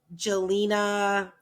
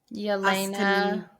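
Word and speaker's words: Jelena: is an American tennis player is playing against Jelina Yelena Yelena Yelena Ina Austin Peno.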